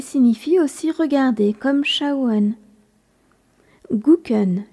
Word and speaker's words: gucken: plus familier qui signifie aussi regarder comme Chen guken g u C k e n on sent